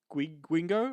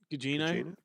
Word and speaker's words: Gugino: Whereas, you had particularly Michelle Yeoh and was it Carla Guingo? I don't know how to pronounce her name. Gugino.